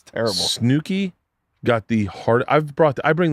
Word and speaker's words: Snooki: Snooki, it's 2 O's. Snooki is how you say it.